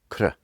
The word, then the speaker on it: kṛ: If we put a little dot under the R, it's pronounced Kṛ. Kṛ.